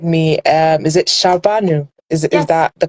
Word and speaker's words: Shahrbanu: well please kindly correct me um is it shabanu is is that the correct pronunciation okay so today we are here with shabanu haidari yes is that correct yes okay yeah